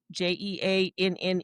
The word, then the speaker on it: Jeanne: And it's um like I said, all one word, a j e a n e.